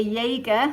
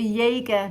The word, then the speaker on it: Jaeger: ago this is actually a jaeger that's how you pronounce it a jaeger vintage jager piece it's